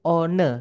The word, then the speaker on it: one: Contoh nih, kata one, satu itu ya, tulisannya kan one, teman-teman. Cuman dibacanya one, dan itu cuma salah satu saja.